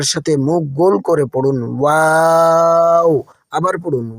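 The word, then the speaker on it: و: আমার সাথে মুখ গোল করে পড়ুন, ওয়াও। আবার পড়ুন ওয়াও। খেয়াল রাখবেন এটি যেন বাংলা ভ বা ইংরেজি ভি এর মতো দাঁত দিয়ে ঠোঁট চেপে উচ্চারণ না হয়, ঠোঁট গোল করে বলতে হবে।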